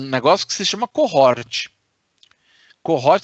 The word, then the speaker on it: cohort: Cohort se escreve com H, é cohort, com H, é um termo em inglês.